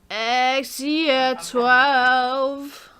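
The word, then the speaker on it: X Æ A-12: How do you actually pronounce that, Jamie? X year 12. Yeah, 12. Yes.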